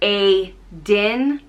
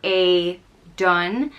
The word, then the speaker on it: Aidan: one is aiden and it's pronounced a din or a dun and this is a